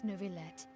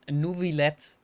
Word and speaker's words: Neuvillette: with due reverence, we have the absolutely just and honorable Chief Justice Neuvillette. Oh, okay, I have to remember this pronunciation. Neuvillette. Neuvillette.